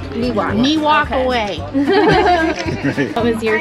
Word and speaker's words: Miwok: Southern Sierra Miwok. Miwok okay.